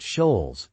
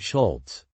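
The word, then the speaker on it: Scholz: they mispronounced his name it was a soft schz not a hard Schultz but it didn't stop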